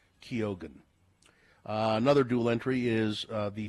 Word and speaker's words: Keoghan: Unlike many Irish variations where the G would be silent, but his name is pronounced Keoghan.